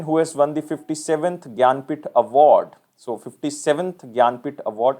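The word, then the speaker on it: Jnanpith: It is basically pronounced as Gyanpith.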